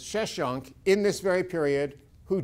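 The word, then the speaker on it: Sheshonq: that's a cue who's usually in english pronounced as sheshunk in this very period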